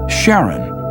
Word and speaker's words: Charon: in greek mythology but preferred to pronounce it sharon more like his wife's name charlene from the motions of pluto and charon astronomers could work out